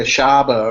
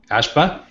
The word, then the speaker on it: Ashba: ass off or uh DJ asaba or uh ashba thank you I always say his name wrong or uh with the